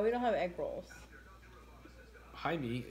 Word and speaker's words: Jaime: don't have egg rolls Jaime is how you pronounce Jamie in espanol yeah I know I